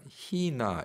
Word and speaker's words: 히나: 나가잖아요 그런데 브라질 사람들이 발음도 못하고 K 발음도 잘 못해서 이렇게 읽어요 어이 경기나 너무 이상하잖아요